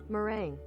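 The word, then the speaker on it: meringue: how do you say it for real oh mering yeah you know what I've never read that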